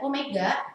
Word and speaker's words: omega: Kemudian omega itu bukan W ya, tapi omega dibacanya itu sama dengan frekuensi sudut, satuannya radian per sekon.